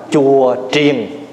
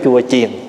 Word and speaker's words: chùa triền: Giống như cái chữ mình đúng ra mình phải đọc là chùa triền chứ không phải chùa chiền.